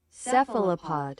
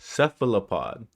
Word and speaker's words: cephalopod: How do you pronounce this again? Cephalopod. Cephalopod.